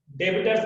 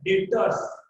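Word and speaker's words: debtors: डेटर्स B silent है, डेबिटर्स मत बोलना, बी साइलेंट है, डेटर्स।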